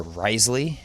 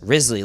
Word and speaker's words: Risley: unfortunately yeah dang AJ Risley or rise Lee as the announcer called him do we had a big meeting about how his name-o it's dead wow they had a big how you pronounce his name and Steve dodge says Risley like grizzly girl and he still